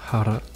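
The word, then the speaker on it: χαρά: Ensuite, le X qui se prononce H, donc Harti, qui veut dire papier, et Hara, qui veut dire joy, la joie.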